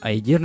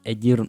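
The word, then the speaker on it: Aedirn: а чи знали ви що правильно не айдірн і каедвен а едірн і кедвен це все ляпи русского переводу але оскільки ми вже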